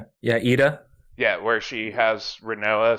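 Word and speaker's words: Edea: Idia? Yeah, Ida.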